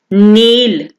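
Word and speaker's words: kneel: नील नील, के is silent है, ठीक है, के यहाँ पे साइलेंट है।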